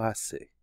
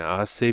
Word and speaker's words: hace: not pronouncing the H you do not pronounce the H in Spanish it's always silent ah Sabian though you